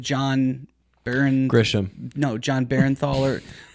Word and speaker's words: Bernthal: No, John Barrenthal or how do you say his last name? This guy that's in this movie. Oh, John Barrenthal from The Walking Dead. Yeah, he's in the Punisher. Bernthal. Bernthal. Like Menthol, but he's really really